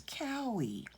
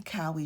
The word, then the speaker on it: cowrie: going to need some cowy shells i've finally figured out how to pronounce this cowie okay you're going to need some cowie shells and you only